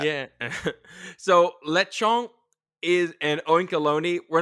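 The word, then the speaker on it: Oinkologne: quick you pronounce it oinkeloni what do you pronounce it as oink alone like cologne see I always pronounce alone like I thought it went like baloney but I guess uh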